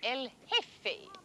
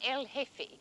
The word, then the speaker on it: El Jefe: Generalissimo Franco is called El Jefe, the chief. J-E-F-E, the J is silent, El Jefe.